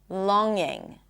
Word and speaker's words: longing: Long longing.